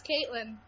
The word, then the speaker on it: Caitlin: Hey, am I pronouncing your name right? Yeah, it's Caitlin.